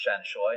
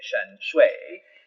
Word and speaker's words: Shanshui: Shanshui, and if we're talking Cantonese, it is pronounced Shanshui, not Mandarin, where they'd say Shanshui.